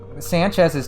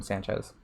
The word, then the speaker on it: Sanchez: Sanchez's Japanese name, right? Just a little thing, but it's Sanchez with an S sound, not with a Z sound.